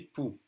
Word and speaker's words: poux: And des poux, lice. Des poux. Again, we don't say the X.